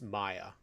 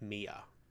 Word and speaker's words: Maya: I believe it's Maya Ford instead of Mia.